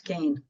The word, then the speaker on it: Kean: it was Lewis and you would have thought my name was Keen if you read it for sure for sure that's why I always tell people to pronounce Kane so Leslie Kane uh